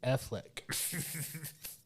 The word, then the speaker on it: Affleck: No, his name is Affleck.